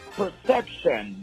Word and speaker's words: PRCPTN: very talented hipop arst his name is perception but it is spelled p r c ptn he is very creative already with his name as you can hear